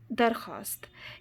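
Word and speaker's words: درخواست: वो वाव जो लिखने में तो आता है लेकिन पढ़ने में नहीं आता, जैसे दस्तरखान, ख्वाब, दरख्वास्त।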